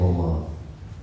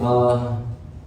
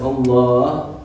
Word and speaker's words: Allah: saying dhikr, but they're mispronouncing the name of Allah. They either say Allah, or they say Ah, or whatever other mispronunciation, and they think that they're saying like 1,000 worth of dhikr.